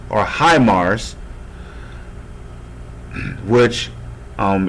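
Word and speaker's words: HIMARS: or i call it he mars or high mars which um if you're speaking in japanese terms you would pronounce this as he by english terms you will call it high so high mars or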